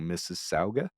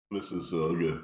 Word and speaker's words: Mississauga: I remember that hash, Jamaican oil in abundance in I'm gonna pronounce this wrong, Mississauga. Mississauga.